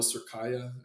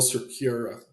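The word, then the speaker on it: Cerqueira: opponent here in Rafael Surkaya. Am I even pronouncing that right? I'm trying to block this guy out of my mind. Yeah, Rafael Surkira, not Kaya, but regardless, not a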